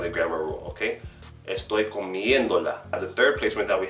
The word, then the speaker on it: comiéndola: So, as you can see when it's written, it's going to have an accent mark on the third to last vowel, the third to last syllable. Because if we say the word comiendo naturally, then we hear the stress over the E.